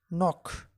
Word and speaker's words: knock: I started to feel weak one my knees knock k n o c k knock knock on